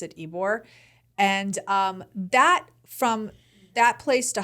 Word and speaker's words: Ybor: But within Tampa, we were in Ybor City, which is a really hip, cool city, which I'm going to talk about. It's called Ybor City. It's a neighborhood in Tampa. It's Ybor, right? Yes, it's Ybor, but you pronounce it Ybor.